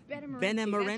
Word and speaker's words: Benemerenti: Benemerenti.